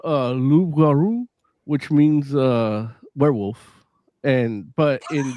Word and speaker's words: loup-garou: In French it's called loup-garou, which means werewolf, but in the Netflix English, Wait, how do you say werewolf in French?